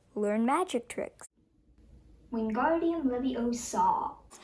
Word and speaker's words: Leviosa: Wingardium Leviosa. You're saying it wrong. It's Leviosa, not Leviosa.